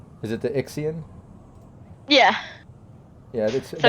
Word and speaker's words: Ixian: n is it the ixion yeah yeah so it's a dumper yeah that i x i a n it's just pronounced ixian like i i c k x but yeah you got